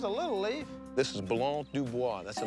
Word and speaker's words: Blanc du Bois: It's Blanc du Bois. See, I can't pronounce the name of the wine.